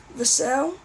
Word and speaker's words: Vassell: able to put Devin Vassell at the 3, Vassell, that's how you say it.